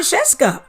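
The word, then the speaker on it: Scieszka: And then I found out later that I really mispronounced his name name and I was so embarrassed and I said have to correct that. So here he is again. John Schesa.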